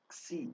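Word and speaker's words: ξ: Xi, Xi, o Xi é aquele som do taxi, taxi, né? Então você tem o táxi como exemplo para esse som do X.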